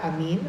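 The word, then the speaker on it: ἀμήν: Es la palabra griega amín, así se pronuncia, que significa firme o digno de confianza o seguro o verdadero.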